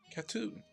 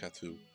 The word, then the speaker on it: Cateau: welcome to let's play KATU at least I'm assuming it's pronounced katsu I'm under the impression it's like a shot - except for cats tattoo is a 2018